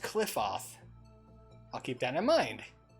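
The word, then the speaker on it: Qliphoth: It's pronounced Cliffoth.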